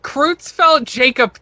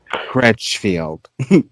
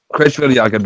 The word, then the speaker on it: Creutzfeldt: Did you say you were saying it wrong the whole time? Yeah, I was. I was like Creutzfeldt-Jakob disease. Yeah. I watched the YouTube translate or the pronunciation video. Yeah. Before I sat down with my family, like 75 times. Yeah, I was like, Crutchfield. Jakob.